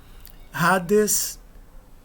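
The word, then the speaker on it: ᾍδης: Hades. Hades. Reparem que o iota não é pronunciado. Apesar de ele estar adescrito, ele só está descrito porque o alfa é maiúsculo.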